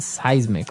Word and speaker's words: seismic: It's pronounced seismic, right?